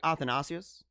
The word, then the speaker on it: Athanasius: Isaac athanasius um but if you want to say it properly it's a in Greek it's like athanasius right the the the emphasis is on different parts of the the word kind of like I